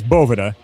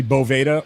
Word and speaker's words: Boveda: So, um it's it is Bovetta and uh I think that in in most instances I would I will say probably seven out of 10 people mispronounce it. Uh, it's usually bova or bovida is what people call it.